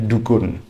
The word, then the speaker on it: Dukun: bilang beliau itu dari dukun dukun bukan dukun beda dukun meskipun tulisannya dukun Tapi bacanya itu Dukun itu kecamatan yang ada